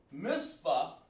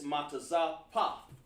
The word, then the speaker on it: mitzvah: Mitzvah is really not spelled mitzvah. That's where the Germans, the Yiddish people pronounce it. That's why you got to pay attention and get in class. And the word is really pronounced, instead of mitzvah, it's matazapa. Matazapa.